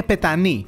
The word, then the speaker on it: Petanoi: La plage se prononce comme PetanoÍ Même si on la prononce mal, il n'y a pas de gros problème, n'est-ce pas ?